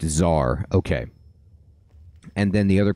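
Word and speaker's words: TzHaar: I ever did know how do I pronounce tar like what is the pronunciation of that so I can say that correctly and then it's just Zar okay and then the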